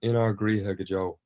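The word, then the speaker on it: In ár gCroíthe go deo: which, if you could tell me the correct pronunciation of the title of the opening track. It's called In Our Griha Gajo.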